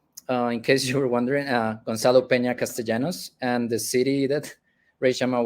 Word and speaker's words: Gonzalo Peña-Castellanos: So yes, for the correct, in case you were wondering, Gonzalo Peña-Castellanos, and the city that Reshama was pronouncing is Bucaramanga, which is my hometown, and